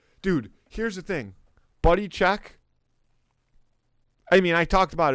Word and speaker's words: Cheque: Buddy Check. Buddy Check. It's spelled like a Q. It's spelled the French way.